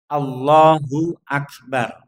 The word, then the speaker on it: Allahu Akbar: Jadi takbiratul ihram juga takbir perpindahan nu bentuk pelafatannya seperti ini yakni Allahu Akbar.